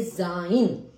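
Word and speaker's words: sein: उच्चारण करते हैं उस तरीके से सा का उच्चारण किया जाता है जैसे मान लीजिए जाइन एस ई आई एन जाइन तो एस का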